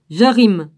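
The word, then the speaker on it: Kirjath-jearim: Gibon, Képira, Be'eroth et Kirjat, Jarim. Ça fait un peu comme Jean, mais c'est marqué J-E-A-R-I-M. Jarim, moi je le prononce comme ça.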